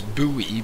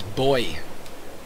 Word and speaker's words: buoy: The way I've learned that word is Buoy, B-U-O-Y, but this voice actor pronounces it as Boy.